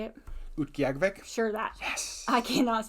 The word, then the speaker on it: Utqiagvik: Utqiagvik?